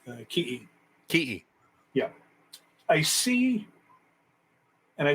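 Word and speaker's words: kiʻi: sorry um you know the word tikki is actually uh the tahitian word so in hawaiian it's pronounced ki yeah i see and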